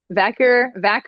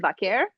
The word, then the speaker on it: Vaquer: Vacker, or I always said Vaquer, Hmm. but I've heard people just say Vacker.